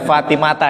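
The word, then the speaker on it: فاطمة: apa bunyinya and fatimata ini bacanya fatimata Ya nih kalau santrian itu harus akan dibaca kasroh ya jer itu tapi karena ini Isim ghoiru munshorif akhirnya itu diganti dengan Fatah hati-hati kalau baca kitab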